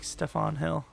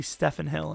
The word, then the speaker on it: Stephen Hill: I'm saying his name wrong there. Every time I say someone's name, I get it wrong way more the next time. His name was literally Stephen Hill, and I said it the first time properly, and now I'm just ruining it.